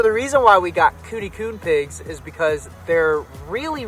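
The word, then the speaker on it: Kune: So we got 3 Coon pigs. That's spelled K-U-N-E, K-U-N-E.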